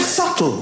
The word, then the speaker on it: subtle: The word subtle. Would anybody object if it was spelled s u t l e? Not a single person would. But there's a b in the middle going shh. Just ignore me.